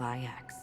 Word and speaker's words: IX: One of the thousands of manifestations of IX. IX, so that's how we Under the pronounce watchful it.